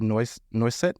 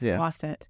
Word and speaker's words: Noisette: the spotlight, Miss Noisette. Is that how you say it? Noisette. Noisette? That's how we say it here in the South, especially. Mm-hmm. You go to France, it's Noisette.